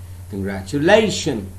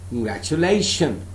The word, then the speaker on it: congratulation: So out of 5 syllables, I'm stressing only one syllable, that is lay. Congratulation. Congratulation.